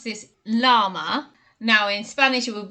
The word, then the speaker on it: llama: Number 5 is a really cute one, and we pronounce this llama. Now in Spanish it would be llama because the LL creates a y sound in Spanish, but we didn't bother